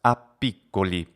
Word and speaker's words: a piccoli: So the two words a piccoli together are pronounced appiccoli, as if there were two P's there.